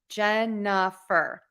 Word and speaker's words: Jennifer: So my name, Jennifer, has 3 syllables. Jennifer.